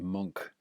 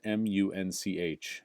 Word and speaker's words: Munch: an artist named Edouard monk and monk is spelled mu n ch so munch but pronounced monk the scream by édouard